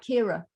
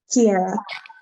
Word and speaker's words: Kiera: Am I saying that right, Kira? Am I pronouncing your name correctly? Kiera.